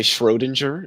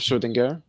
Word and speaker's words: Schrödinger: Just like people say Schrodinger instead of Schrödinger.